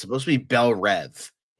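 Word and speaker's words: Belle Reve: It's supposed to be Bel Rev. It's Belv. Everyone pronounce it Bel Ree and it annoys the out of him.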